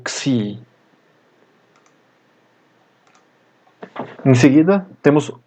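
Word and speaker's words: Ξ: Depois temos a letra Xi, cuja pronúncia é como o X de taxi.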